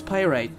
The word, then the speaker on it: pyrite: you're like oh my god the way you pronounce words is painful let me help you with that so yeah it's pyrite medium recoveries amber speed solve charge attack plus